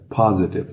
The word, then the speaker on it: positive: Note a pronúncia positive. Positive é escrito com O, mas a pronúncia é de um A bem aberto.